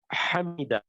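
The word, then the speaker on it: حميدا: So this is not the soft ha, it's the hard ha, the Arabic ha.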